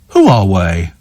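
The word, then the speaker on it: Huawei: that's why check the cell by date it's pronounced H way who aree who are way who are way Buffett who are we who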